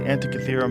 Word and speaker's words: Antikythera: It's the Antikythera mechanism.